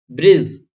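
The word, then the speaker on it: bridge: ऐसे देखिए ब्रिज, ब्रिज लिखा हो देखा होगा आपने कि डी के बाद जी आ रहा है, यहां पर भी डी के बाद जी आ रहा है, तो हमने यहां पर डी को प्रोनाउंस नहीं किया।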